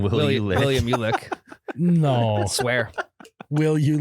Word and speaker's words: Uhlich: Is that how it's spelled? Ulick.